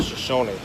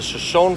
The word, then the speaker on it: Shoshone: Falls what's weird as I've always called him the shason but I found out that that is incorrect saying it wrong saying it wrong this is the shonne falls and uh it's a